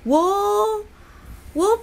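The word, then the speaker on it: を: Okay, wo pretty much sounds like o, you know, this o. It's also pronounced, both of them actually sounds the same, it's actually pronounced as o, okay?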